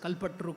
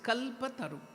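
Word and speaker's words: कल्पतरु: specialtity that is kalpataru many of us here pronounce it as kalpatru kalpatru it is kalpataru wish yielding tree means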